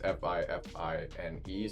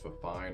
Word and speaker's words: FiFine: And I've been mispronouncing their name the whole time. It's FiFine, so I thought it was FiFine or FiFine or something like that.